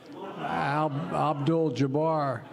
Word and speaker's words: Abdul-Jabbar: for we cheer for Muslim athletes like Kareem al-jabbar Abdul-Jabbar I know him and I zip mispronounced his name so I'm trying to think